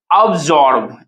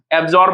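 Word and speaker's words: absorb: According to question your answer is now option number D अब्सॉर्ब, एब्सॉर्ब मत पढ़ना, ठीक है।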